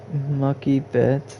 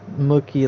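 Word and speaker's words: Mookie Betts: Mucky bets. It's not how you say it, Alana. You say it mookie like a cookie but mookie and then bets like BETTS.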